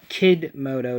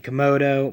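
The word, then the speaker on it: Kidmodo: I run to come kid moto dragon I have to make that pronunciation because I'm used to saying Komodo but it's kid moto his effect is if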